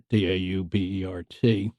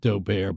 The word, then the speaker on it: Daubert: a case called Daubert, D-A-U-B-E-R-T. Some people pronounce it Daubert, but they're just snobs. Daubert it is.